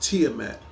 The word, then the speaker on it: Tiamat: me and I'll tell you right now it's pronounced Tiamat that's TI i a m a a t